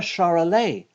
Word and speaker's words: Charolais: I'm a Charolais. It kind of rhymes with parler, which is how you would say to speak if you said it in French.